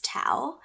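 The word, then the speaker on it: Thao: My name is actually pretty interesting too, because my Vietnamese name is Tao It's spelled T-H-A-O, mm-hmm.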